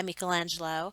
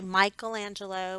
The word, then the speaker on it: Michelangelo: on the right is a statue done by michelangelo of moses and by the way that is how you say it the italians pronounce the eyes like an e so i know a lot of people say michelangelo but if you are in italy which is